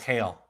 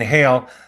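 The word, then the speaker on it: Geel: And she talks about this town in Belgium called Hale, Belgium. I believe it's spelled G-E-L. And in Hale, there is this monument dedicated to the patron saint of mental health.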